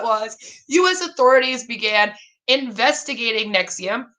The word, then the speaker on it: NXIVM: out because in here it's spelt nxivm and it's like nx ibm pronounced nexium and i'm like you